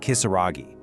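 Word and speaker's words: きさらぎ: The name is written with the kanji character for demon, but it's pronounced Kisaragi.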